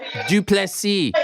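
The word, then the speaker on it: du Plessis: them I love it DDP the S is silent trick is dupless C get it right get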